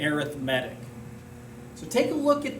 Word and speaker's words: arithmetic: lesson 8.1 arithmetic sequences and that is pronounced correctly as an adjective we would say arithmetic so take a look